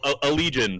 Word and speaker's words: Allegaeon: A legion for everybody who's been saying it wrong this whole time.